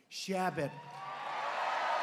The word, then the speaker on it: Chabot: He's a true fighter for the state, Congressman Steve Chabot. Great guy. Come up, Steve. Come up, Steve. You pronounced it right.